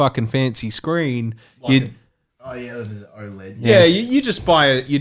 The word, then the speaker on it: OLED: no the other part OLED OLED o LED that represents the uh the screen the technology used on the screen so it's it's deep